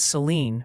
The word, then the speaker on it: Saline: They're strongly suggesting it's Rala for Rala and Seline for Saline County.